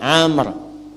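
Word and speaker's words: عمرو: Ah, ini Amr. Ah, kalau dibaca begini, Amr namanya. Kalau wya hilang bacanya Umar.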